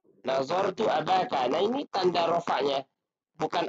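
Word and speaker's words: أباك: Nah, bukan abuka, tapi abaka. Kenapa abaka? Karena dia merupakan objek atau maf'ulun bih.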